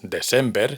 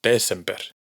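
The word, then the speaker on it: desember: En islandés, la sílaba tónica, es decir, donde cae el acento de la palabra, siempre es la primera. December. Fijaos en que no es descember, sino décember.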